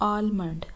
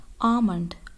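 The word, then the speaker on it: almond: Next word, ठीक है, इसे हम पढ़ते हैं आलमंड, आलमंड, लेकिन ये गलत प्रोनाउंसिएशन है। इसकी सही प्रोनाउंसिएशन है आमंड, आमंड, आमंड। इसमें एल साइलेंट है, एल की आवाज़ नहीं निकालनी।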